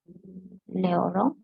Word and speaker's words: les oranges: On ne va pas prononcer le S à la fin.